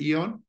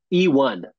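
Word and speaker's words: Eone: E Eon uh watches how you pronounce it Eon E1 E1 E1 okay that makes more sense I was trying to combine it all into one word the E1 is I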